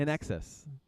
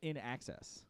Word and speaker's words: INXS: Now it sounds In Excess. in excess. In excess. I said it wrong. It's INXS, in Excess. Right. But you're still saying like in access.